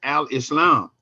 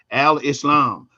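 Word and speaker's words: Al-Islam: to say it is Al Islam that's the way it's pronounced in the Quran Al Islam and it it literally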